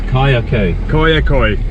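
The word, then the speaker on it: Kayaköy: I'll let him pronounce it because I get it wrong! Yes, Kayakoy a ghost town, it's about half an hour's drive away from Fethiye.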